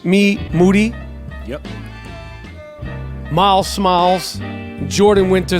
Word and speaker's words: Moody: Moody, whose last name rhymes with duty.